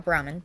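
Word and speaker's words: Brahmin: And I believe I added Burman troughs to that house because they were for the the provisioner and her uh Brahman. So I said it wrong the first time.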